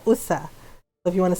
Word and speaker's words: usa: young deer, it's batang usa. Yeah, so it doesn't look how, so this is how it's spelled, and it's not, yeah, so it's like this. So it's not USA, it's USA.